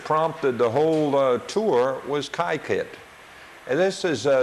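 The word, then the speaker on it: Kykuit: the thing that prompted the whole tour was kaiit and this is spelled KY k UI and they pronounce it kaiit it's home of the Rockefellers uh and it's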